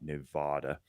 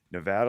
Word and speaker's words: Nevada: or the East Coast that pronounce our name with an H or a w it is Nevada not Nevada so Nevada law says uh you